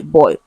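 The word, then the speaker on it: buoy: this question is option a b o y boy it has the same pronunciation right as you can see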